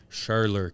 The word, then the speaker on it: Scherler: how do you say your last name shirley shurler casey schurler and she owns a very popular business in